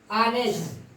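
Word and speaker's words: honest: आनेस्ट, honour, ये आपका silent हो गया।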